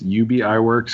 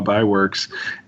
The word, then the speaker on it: Ub Iwerks: you know how to say his name it's UB Iwerks or by works and and Walt Disney created this character of